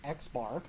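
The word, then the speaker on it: x̄: in the sample so the symbol for the sample mean is X with a bar over the top pronounced xar and if we added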